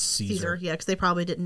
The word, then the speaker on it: Caesar: There's, I think, the Legion, Caesar's Legion or Caesar's Legion actually has a currency, and then there's also bottle caps. They say Caesar, right? They say Caesar, but really it's Caesar.